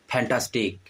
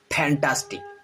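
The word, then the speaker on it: fantastic: आगे लेके आ जाता है, जैसे कि फुटबॉल, फैंटास्टिक, फ्यूलस, दो लिप्स को लेके आ जाता है। ठीक है, ये रॉन्ग प्रोनाउंसिएशन है।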